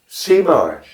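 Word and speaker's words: zie maar: So, and it's spelled Z-I-E, and a mar is the separate word, is W-M-A-A-R. Cmar. Yeah, C is your eyes, and Mar is you sort it out.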